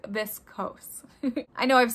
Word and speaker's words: viscose: say it correctly so according to google it is this coase i know i've said